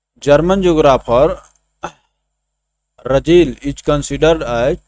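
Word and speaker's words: Ratzel: German geographer रजेल is considered as the father of political geography and human geography. रतजेल भी कह सकते हैं, लेकिन टी को साइलेंट करना होगा यहाँ पर।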